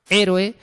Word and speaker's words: héroe: Pero tiene que llevar tilde porque como héroe son 3 sílabas, héroe, o sea, tiene que llevar tilde porque es esdrújula, es una palabra esdrújula.